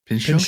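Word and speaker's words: Pinchot: Uh how do you pronounce his name? Pincho.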